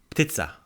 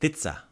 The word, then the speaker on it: ptica: Not pizza like pizza, but ptica. With a T? Yeah, pizza. Pizza. So it's spelled P-T-I-C-A, P-T-I-C-A, pizza. So like that P is kind of like it's like vermouth in a martini. You think about it, but it's not really there.